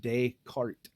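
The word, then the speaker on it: Descartes: Uh the internet says that his name is pronounced daycart. Decart as in the one that you put before the horse. Yes. But like daytime day cart.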